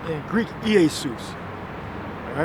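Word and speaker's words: Ἰησοῦς: Because the J is a stylized I. So in the Greek, you would say Iesus.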